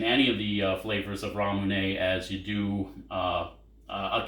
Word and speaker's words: Ramune: have tried this brand before i believe it's pronounced ramune it's japanese soda you can find it in